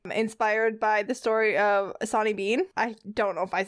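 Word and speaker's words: Sawney Bean: It's called Sonny Bean. It's spelled like a saw and then N-E-Y and then bean. But I know that because it's Scottish, sometimes letters don't sound the same as I'm used to with my very English tongue.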